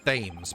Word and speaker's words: Thames: Which should be pronounced Thames, by the way. Why is it Thames? It's Thames. If it was Thames, it should be T-H-E-M-S. English.